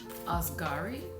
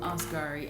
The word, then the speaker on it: Asghari: at her fiance uh sam askari i think that's how his last name is pronounced sam osgari and i'm going to